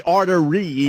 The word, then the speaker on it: arteries: It's like you can't put the accent on the wrong syllable.